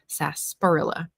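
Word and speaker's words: sarsaparilla: Greg says that is the correct spelling of sasparilla. I've always pronounced it and heard it pronounced sasparilla.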